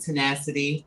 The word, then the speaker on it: Tona City: So you guys, if you follow me on Instagram at Tona City or Twitter, I pronounce it tenacity because I'm a nerd.